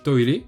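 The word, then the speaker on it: トイレ: Donc le premier et le plus commun c'est toire, qui s'écrit en katakana.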